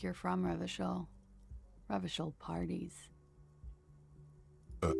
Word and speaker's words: Revachol: Revachol. Okay, so that's how we're going to be pronouncing our CHs.